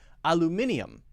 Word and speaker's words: aluminium: British people say aluminium. Americans say aluminum.